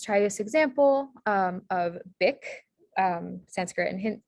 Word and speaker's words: bikh: guessing this right um the ka sound uh spelled with the kh in sanskrit or and or hindi um and so this word is spelled bikh one more example let's